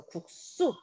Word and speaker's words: 국수: 지금 받침이 기역, 디귿, 비읍이다. 그럼 그 뒤는 된소리로 발음을 합니다. 그래서 국수 이렇게 발음이 되어 있죠. 받침 기역 확인하시고요.